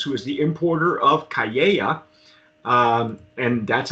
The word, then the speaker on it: Cayeya: And so Samuel Hirsch, he's the founder of Piermont Brands, who is the importer of Cayeya, and that's how it's pronounced.